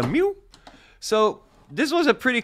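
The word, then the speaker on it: Miiw: It's a Miu, M-I-I-W. It's one of those Xiaomi brands that nobody knows how to pronounce. Miu. It's a Miu.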